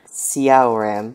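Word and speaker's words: Syaoran: One is S-H-A-O, the other is S-Y-A-O, but it's both pronounced Xiao.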